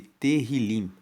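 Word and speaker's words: Tehilim: O livro de Salmos no hebraico, que é na Bíblia original, ele é chamado de terrilim. Se escreve T E H I L I M e Terrilim significa louvores.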